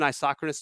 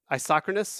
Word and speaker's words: isochronous: Is that starting with an A, like asynchronous, or No, isochronous? yeah. Okay. My brain was just like, is he saying it wrong? Like, I might be. No. no. I mean, so it actually starts with a isochronous.